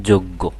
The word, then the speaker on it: যজ্ঞ: হয়ে যাবে হুম আদ্য আদ্য অ এর পরে জয় থাকলে অকারের উচ্চারণ ওকার রূপে উচ্চারিত হয় যেমন দেখো জ এর